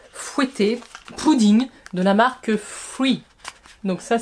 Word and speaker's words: Fwee: côté un peu fouetté, pudding, de la marque Free. Donc ça s'écrit F-W-E-E, et ça, on les a vus partout, sur toutes les chaînes asiatiques, mais également maintenant ici chez nous.